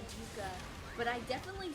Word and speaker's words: Yucca: family's native country and everyone pronounces it wrong. Uh, they say Yaka Valley, but it's Yuka. It's the the root Yuka.